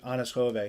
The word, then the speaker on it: Anders Hove: but um it's spelled anders hove but you pronounce it honest jove he's like yeah he actually is a danish